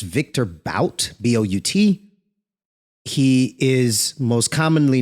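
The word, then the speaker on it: Viktor Bout: They traded Brittney Griner for a gentleman that goes by the name of, I think it's pronounced Victor Bout, B-O-U-T.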